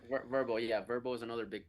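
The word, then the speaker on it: Vrbo: How does Direct Book Me differ from those platforms like Airbnb and I think it's pronounced Verbo? Correct. Verbo, yeah, Verbo is another big player.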